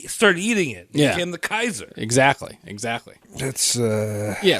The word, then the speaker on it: Caesar: whole push back like no we should it's a hard sea it's a sound so are you're saying that soft seas are new soft Caesar Caesar it's Kaiser that's where the modern